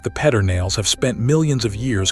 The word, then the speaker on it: Pedernales: The river that ties this whole park together is the Pedernales, and Texans will tell you firmly that it is pronounced Pedernales, whatever the spelling says.